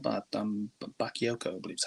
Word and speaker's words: Bakayoko: Bakayoko, I believe is how you say his name.